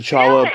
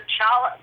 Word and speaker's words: challah: bakery and ask for challah bread, they're going to go, you mean challah? Challah? Okay. Challah. Yeah, challah. Oh, like Don't pronounce the C.